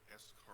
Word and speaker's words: escargot: Escargot. What is this? Escargot is What? Snails. yeah, snails. Why is there T at the end. Because it's silent. It's French.